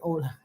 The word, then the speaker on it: hola: Hola. I know that. And it's hola. Is it like a head or is it hola? You don't. Yes, the H is silent.